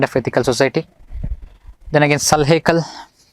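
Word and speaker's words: Sulh-i-kul: Then again Salhekal, Salhekal, some pronounce as Sulekal also.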